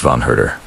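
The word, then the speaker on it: von Herder: Von Hurder, writing in a letter dated 1774. And yes, I know it's tempting to say Yan Zed, but please don't. It's pronounced Vonurder.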